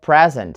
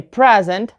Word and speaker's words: present: The same thing with the word present. So if you say present and the stress is on the first syllable, present, then you have a noun. But if you put the stress on the second syllable, then you have present. To present is a verb.